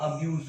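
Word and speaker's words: abuse: यहाँ पे ध्यान दीजिएगा, इसका जो प्रोनाउंसिएशन है एज अ नाउन, जब इसको हम प्रोनाउंसिएट करते हैं तो इसका उच्चारण जो आता है अब्यूज होता है। अब्यूज, स, इसको स वाला आएगा, अब्यूज। बट एज a verb जब इसको हम पढ़ेंगे एज अ वर्ब, तो ये अब्यूज हो जाएगा, ज आ जाएगा, स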